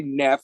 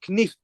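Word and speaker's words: Knef: me on that pronunciation I always say Neff and she's like no she doesn't go no it's knife and like she goes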